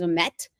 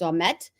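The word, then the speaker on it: Ouimet: Now, see, if I have family members that are called, their last name is Omet, O-U-I-M-E-T, so it's Omet.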